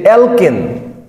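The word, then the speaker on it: alkane: একটা জিনিস শিখবো যে অ্যালকেন এই ফরমেটে এই সূত্র মেনে চললে তাকে অ্যালকেন বলি আর অ্যালকেন যদি অ্যালকেন হয় তাইলে আমরা এন উচ্চারণ করব এটা খুবই গুরুত্বপূর্ণ যদি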